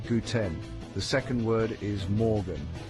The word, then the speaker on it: guten: The first word is guten. It sounds like the English word gluten but with a g sound at the beginning. Say guten.